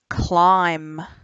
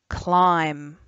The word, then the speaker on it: climb: next word across says climb that's a tricky one because the b is silent climb and you'll need to